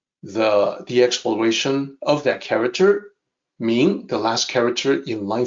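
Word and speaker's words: 明: So first of all, the pronunciation is easy. This character is Ming.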